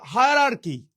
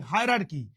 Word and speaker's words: hierarchy: আচ্ছা, হায়ারার্কি, হায়ারার্কি। আচ্ছা, মনে রাখবেন HIE, হাই, RAR, রার, CHY, হায়ারার্কি, হায়ারার্কি, হায়ারার্কি, উচ্চারণটা হায়ারার্কি, হায়ারার্কি, হায়ারার্কি, হায়ারার্কি, high রার কি, হায়ারার্কি।